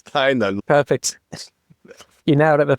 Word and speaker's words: Tynan: No, it's Tynan.